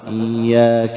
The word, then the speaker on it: إياك: كما قال بالحركة البطيئة، لكن عندما نقرأ نقول إياك نعبد وإياك نستعين. إذن ما قل لا يعني نمر مرورا هكذا من غير أن نأتي بالشدة، نقول إياك نعبد وإياك يعني نأكلها، لا ولا أيضا نزيدها كثير، بعضهم يعني كما يقال لك يغالق، أنا حتى أعطيها حقها يعني نزيدها شوي، نقول إياك نعبد وإياك، خطأ، لا تزيدها ولا تنقصها، يعني اضبطها بحيث أنه تكون بمعدل حركتين، يعني حركة ساكنة وحركة مفتوحة.